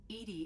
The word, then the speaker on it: EDI: EDI Go. is the phonetic pronunciation of EDI. That is an acronym for Enhanced Defense Intelligence.